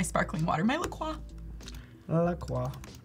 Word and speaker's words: La Croix: La Croix. That is how you pronounce it, by the way. It is, it's just like knows. Détroit, La Croix.